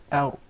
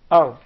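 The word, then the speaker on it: ر: That's an English Ra now, where the tip of the tongue is far away from the gum. I would like you to feel it. Ow. The tip of the tongue, not the middle of the tongue, not the sides of the tongue, just the tip, the top tip of the tongue, striking or hitting slightly the gum.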